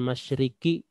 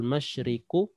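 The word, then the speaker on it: الْمَشْرِقُ: Jangan kita baca lillahil masyriki wal maghribi, tidak. Lillahil masyriku kembali ke bentuk awal karena dia tidak gabung dengan kata Allah.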